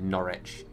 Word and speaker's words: Norwich: norwich or norwich well i say norwich is how i say it so i say it like you spelled it the first time n-o-r-i-c-h is how i say it norwich but i could be